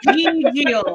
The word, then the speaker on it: Gigil: Gigil.